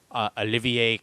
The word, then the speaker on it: Olivier: pencils and covers by Olivier Coipel, or Oliver Coipel, depending on how you want to pronounce it.